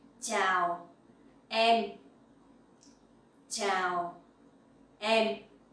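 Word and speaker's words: chào: speaks so scene and the sound in ciao you can pronounce like in the champion ciao ciao uh that is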